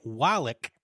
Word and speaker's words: Wallach: Lee Van Cleef as the bad, and Eli Wallach, I hope I'm saying that correctly, as the ugly.